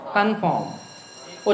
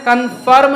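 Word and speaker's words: conform: को कहा जाता है कन्फॉर्म उच्चारण का ध्यान रखना है कन्फ़र्म नहीं है कन्फॉर्म आगे लिख कौन चैनल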